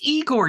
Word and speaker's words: Igor: of Frankenstein how do you say that it's Igor are you first but isn't